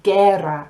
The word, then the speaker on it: guerra: G-U-E makes a G sound, and we have guerra, which means war, which is where we get our guerrilla warfare, guerrilla.